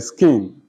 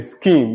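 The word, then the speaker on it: skene: with the actors on the stage near the skin is the space where the chorus sings and dance and dances with the actors on the stage near the skin the skin is spelled s-k-e-n-e all right the space where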